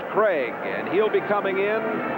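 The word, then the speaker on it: Krieg: problem there is young Dave Craig Kri eg but pronounced Craig and he'll be coming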